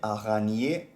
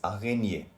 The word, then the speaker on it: araignée: Then we have il y a une araignée sur le mur.